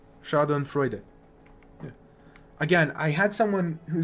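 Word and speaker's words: Schadenfreude: shardon freuder yeah again I couldn't remember if you pronounce e at the end sha and Freud versus sha and Freud I couldn't remember so you do pronounce e Shon Freud again I had someone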